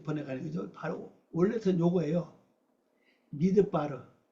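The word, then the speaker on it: מדבר: 미드바르, 미드바르예요. 미드바르. 요거 듭이 듭. 미드바르, 미드바르 이렇게 발음합니다. 요거 원래 요거 따바르면 이게 원래 떼바르고 요건요 뭐야?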